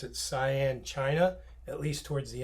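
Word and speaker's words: Xi'an: Um, yeah, he was stationed in a place called, you pronounce it Sian, China, at least towards the end of his service in World War II.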